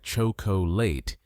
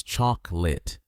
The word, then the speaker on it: chocolate: This one is tricky because learners often pronounce it like chocolate, 3 full syllables. But in English, we usually drop 1 sound. The correct pronunciation is chocolate, or sometimes chocolate, only 2 syllables. Let's say it together slowly. Chocolate. Now faster. Chocolate. One more time naturally. Chocolate. Notice that the O in the middle almost disappears. It's not chocolate, it's just chocolate.